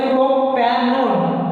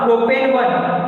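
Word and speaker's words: propanone: है ONE से, और उसको प्रोनाउंस करते हैं इस ONE को ओन, वन नहीं ओन। इसीलिए जो ये हमने बनाया स्ट्रक्चर 3 कार्बन होने की वजह से प्रोपैनोन, पढ़ेंगे कैसे उसको? प्रोपैनोन, नॉट प्रोपेन 1, ऐसा नहीं, प्रोपैनोन, ब्यूटानोन।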